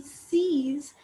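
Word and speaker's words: seize: is written as c e i z e c's 17 is written as the x set okay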